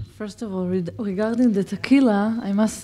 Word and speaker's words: Tehila: to pronounce my name, I normally say it's like tequila, only with the H instead of the Q.